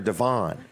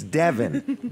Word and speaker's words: Devin: our new employees, and her name is Devin, not... Hold it. Did I say it right? You said it right. I kept calling her Devon.